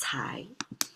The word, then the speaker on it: 才: Pronounce as cai.